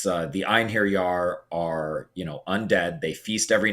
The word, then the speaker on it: Einherjar: Watch zombies, or Odin's, I think it's Einherjar, his dead warriors. I think that's how you say it. Did you freeze or you just... Oh, I might have frozen. Can you still hear me? You did. Did I say it right? Yeah.